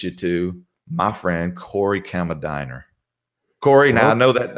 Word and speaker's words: Kammerdiener: the proper way to say your last name kamar döner a hammer dinner that's German and I'll tell